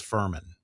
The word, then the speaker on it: Furman: Yeah, and the official pronunciation, because we were going back and forth, it is Furman.